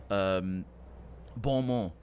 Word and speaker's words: bon mot: Bon mot is the correct pronunciation.